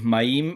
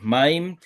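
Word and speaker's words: מַיִם: Este es otro de los moldes que adelanta el acento cuando las últimas tres letras tengo este patrónim, como shamaim que es esta palabra, como maim, como baite. Adelante al acento. Esta palabra no es shamaim, cielo. La palabra agua no es maim, es maim. La palabra casa no es bait, es bait.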